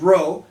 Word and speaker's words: rho: is actually lowercase greek letter r which is pronounced rho and that's our resistivity divided by a which